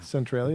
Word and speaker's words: Centralia: Centralia, is that how you pronounce Yes.